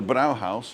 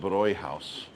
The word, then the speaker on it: Bräuhaus: It would be the Brauhaus if there wasn't any dots over the A. But because there's dots over the A, you pronounce it Bräuhaus.